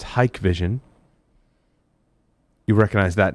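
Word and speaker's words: Hikvision: article they talk about it's pronounced hike vision you recognize that name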